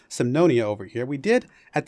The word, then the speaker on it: Semnonia: as the nation of symphonia sorry I keep forgetting how to pronounce it for a second there Sam no Nia over here we did